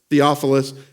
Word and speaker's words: Theophilus: know it says nephal off of us probably Theophilus is how you say that yes thank you